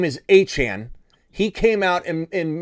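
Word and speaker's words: Achane: press uh Corp and he said not only are you guys pronouncing my last name wrong it's Anan it's also Devon not Devon it's Devon Anan and you're telling me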